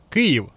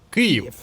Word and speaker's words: Київ: Я ж правильно вимовив Київ. Бо вічно мене критикують за те, що вимовляю по-російськи. Київ.